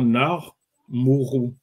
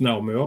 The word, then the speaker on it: Narmer: Donc, ça, normalement, si on prononce, ça va faire Nar Mourou. Nar Mourou. Okay. Ouais, donc, on prononce Narmer parce que par convention, les Européens mettent un E entre les consonnes pour vocaliser. Oui. Donc, c'est pour ça qu'on prononce Narmer.